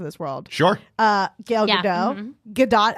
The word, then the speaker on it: Gadot: Gadot actually is how you say her last name.